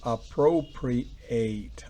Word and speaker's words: appropriate: To appropriate. El acento va en la primera, en la segunda sílaba fonética.